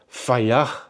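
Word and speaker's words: Fedje: Now that's what I think it's the pronunciation is. I did try to find the correct pronunciation of this one, but if you look at the spelling, it's F-E-D, and I'll put it over here, F-E-D-J-E. Now that is not what Fayach means for me, but apparently that's how you pronounce it, and we will stick to that.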